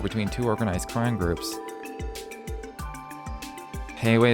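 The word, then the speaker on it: Heiyue: Heiwei is pronounced like Liyue.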